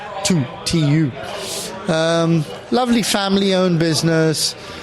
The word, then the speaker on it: Thy: So in uh yeah in Denmark a lovely distillery called tu spelled t h y y but pronounced tu tu.